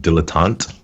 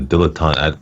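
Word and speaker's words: dilettante: Jenny Barnes, the dilotant. Yeah, that's how you say it. The dilotant.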